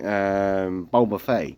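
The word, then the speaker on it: Ballybofey: I kept used twice in Bulbafay, which is in County Donegal. It doesn't look like that when you spell it.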